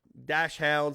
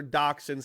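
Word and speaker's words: dachshund: and there you know these are called dashounds or doxins however you want to pronounce it depending on where you live in the world but I go to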